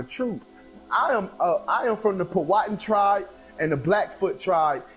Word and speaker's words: Powhatan: It's pronounced Powhatan.